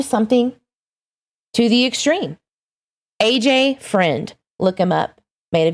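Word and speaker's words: Freund: look up aj friend it's not f-r-i-n-d it's f-r-u-e-m-d aj friend that's how you say it though that poor baby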